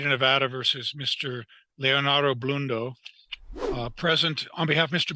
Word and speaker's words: Blundo: as long as i have here am i pronouncing it correctly is your client mr blundo it is bloom though okay good i don't know how he wants